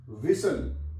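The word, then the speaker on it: whistle: एल से पहले टी आ जाए तो टी साइलेंट हो जाती है इस पढ़ कासल सी ए एस टी एल ई कासल विसल डब् एच आई एस टी एल ई विसल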